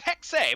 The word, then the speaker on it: Hexe: I'm gonna say Hexa again, but it's actually Hex. No, it's Hex. It's Hexe, but I'm gonna pronounce it Hex because it sounds better.